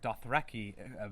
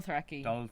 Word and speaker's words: Dothraki: can say the word Dothraki correctly, which apparently we can't because people also wrote in complaining that we were saying... What were we You're saying? saying Dothraki.